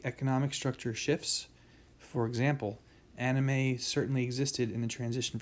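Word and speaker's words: anomie: have something called anime whoops went away okay pronounced yes so this is called anime so norms are weak conflicting or absent um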